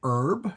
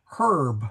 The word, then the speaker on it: herb: Some people say herb for hb and other people say herb for hb. Uh uh um oh shoot who is Meline Hill from Hilltop Herb Farm said the H is most definitely pronounced.